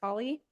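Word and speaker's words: Halle: my old last name it's spelled h a l l e but it's pronounced Holly um is it yes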